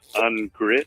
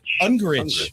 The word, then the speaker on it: Ungricht: It is pronounced Ungricht. Ungricht. Jesus, Ben. The T is silent.